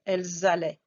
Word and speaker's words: elles allaient: il allait, elles allaient, is that you will hear the S at the end. We're going to do the liaison with elle pluriel, elles allaient.